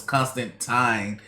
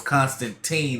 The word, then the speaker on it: Constantine: wrong all the time they thought it was constant time when it was constantine all along i mean that's why